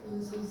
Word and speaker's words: 의사: 자, 첫 번째, 첫 음절 의입니다. 무슨 말인지는 예시까지 써드릴 거니까 걱정하지 마세요. 내가 첫 음절을 못 알아들으시면 단어의 첫 글자 의예요. 단어의 첫 글자 의. 자, 이 경우에는 뭐만? 의로만 발음해요. 다른 발음은 안 돼요.